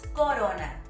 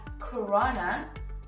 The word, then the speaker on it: Corona: Now, I know that many people pronounce it as CoRona, but it is not CoRona, it is Corona. Is with a soft R.